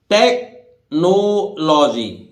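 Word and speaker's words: technology: हैं केमिस्ट्री नहीं है ये इसी देखिए पढ़िए टेकनोलॉजी लॉजी विज्ञान जहां भी लॉजी बायोलॉजी है ना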